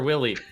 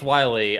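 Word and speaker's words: Wily: is working with Dr Willy and I know it's pronounce Wiley I I know it's pronounced Wiley but the joke is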